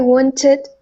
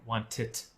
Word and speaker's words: wanted: You've got the "i" but that last "d" you're kind of making a little more like "wantit," like a "t" again. It's wanted.